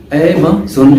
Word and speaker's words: Amazon: एमेज़न इसको जोन ZON या ZUN नहीं पढ़ना, एमेज़न ये अमेरिकन।